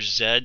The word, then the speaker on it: Z: to say Zed uh I'm just going to call the character Zed since that's how he pronounces his name and it's just simpler